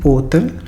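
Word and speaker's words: hotel: अब ये लफ्ज़ है जी ओतल, इसको एच की आवाज़ जो है, यानी कि आका, जिसको हम इटालियन लैंग्वेज में एच को आका कहते हैं, उसकी आवाज़ जो है वो साइलेंट हो जाएगी। तो जब हम इसे इटालियन में पढ़ेंगे तो ये ओतल बनेगा।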